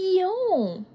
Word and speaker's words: Lyon: et Bordeaux et l'autre lonine mère on dit lon lon tu n'as pas besoin de faire comme moi avec les lèvres juste prononce lon lon merci ce n'est